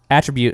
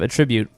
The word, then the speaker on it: attribute: Also, if I had the option, I would go back in time and pronounce that word attribute instead of attribute, because as soon as